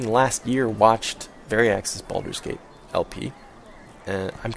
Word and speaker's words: Baldur's Gate: And so again, you might think, Baldur's Gate?